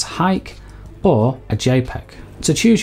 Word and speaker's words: HEIC: to either a heic which i'm going to pronounce as hike or a jpeg to